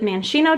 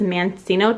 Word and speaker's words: maraschino: and i'm actually curious how do you say maraschino cherries is it manchino cherries because the guy at the store definitely corrected me and said it was mancino cherries i think that might